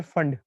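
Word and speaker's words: Pfund: बालम पास ब्रैकेट और फंड इसका नाम आपने पढ़ा होगा प साइलेंट होता है तो फंड सीरीज होता है अगर और बाकी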